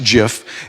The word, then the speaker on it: GIF: you might recognize and that is a Jif pronounced jiff that's in there and it gives you the